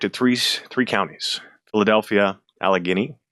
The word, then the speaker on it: Allegheny: Philadelphia, Alagini, Alug Guini, however you pronounce it. I can't pronounce it correctly and everyone makes fun of me. Alagany, like Alageney. There you go.